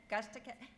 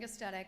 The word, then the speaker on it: Gustetic: Gustick. Okay, Gustetic. I know, lots of consonants.